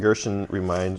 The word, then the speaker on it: Gershon: And Gershon rhymes with curtains.